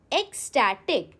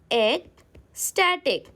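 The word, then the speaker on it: ecstatic: हाउ डू you pronounce? It's pronounced as एक स्टैटिक। एग को break करिए। How will you से this? Wait it said like this एग स्टैटिक। जब भी pronunciation difficult लगे ऐसे आप ब्रेक कर लो।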